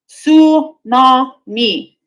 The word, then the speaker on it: tsunami: Tsunami. So it is a tsunami. It's a tsunami. So it is. What the fuck did we need a silent T for?